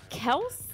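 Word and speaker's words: Kelce: do you what is it Kel yeah Kel Kel yeah k e l c e Kel H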